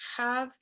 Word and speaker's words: have: deberían ser jotas porque en inglés la h el principio de una palabra se pronuncia con una jota en español entonces have hard tener tú ves